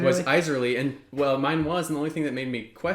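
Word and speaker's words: Isserley: It takes place in Iserly's mind, which I'm glad your pronunciation in your head is the same. Yours was Iserly. Was Iserly, and well, mine was,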